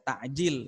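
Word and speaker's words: تعجيل: itu bukan makanan ya takjil itu artinya menyegerakan berbuka dan pengucapannya dalam bahasa Arab itu kan pakaiin bukan pakai Hamzah takjil Sob kalau digunakan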